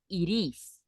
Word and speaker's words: it is: a question, we say it is. Okay? It is. Yeah, because we can pronounce the T like a R.